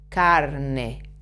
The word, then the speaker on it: carne: salad in the middle you have to vibrate a little with your tongue to pronounce this are carne e c a Ka